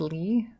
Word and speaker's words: Lie: It's pronounced Lee. Oh, Lee algebra.